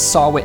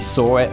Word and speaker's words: Sahwit: I've been pronouncing it as Sahwit. It's actually Sahwit, which, when you think about it, he's the witness.